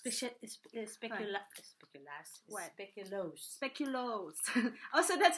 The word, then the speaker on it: speculoos: speculoos butter comes from the Netherlands so it's speculoos we should speculoos also that's how you pronounce it then we have I put another